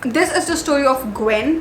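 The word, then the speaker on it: Gwyn: is the story of Gwen or I really hope that's how it how you pronounce it it's a g w y n so Gwen and Wells and Gwen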